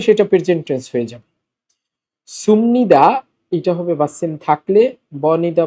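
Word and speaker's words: 습니다: উঁচু ভাষাটা হচ্ছে ভার্ব অথবা অ্যাডজেক্টিভের সাথে, ভার্ব অথবা অ্যাডজেক্টিভের সাথে সুমনিদা, সুমনিদা। বিউপের পর নিউন থাকলে বিউপ ম হবে, এই জন্য উচ্চারণটা হচ্ছে সুমনিদা।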